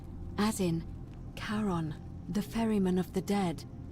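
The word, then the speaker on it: Charon: it's just as you described it only your pronunciation is a little off the name you heard wasn't Karen it was SE h a r o n as in karon the Fairman of the Dead karon who in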